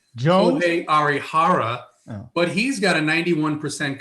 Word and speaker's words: Kohei Arihara: and by the way, this is the way you pronounce it, right? Because I have friends that are from Japan. Jones? Kohei Arihara, but he's got a 91% contact rate and a 5% strikeout rate.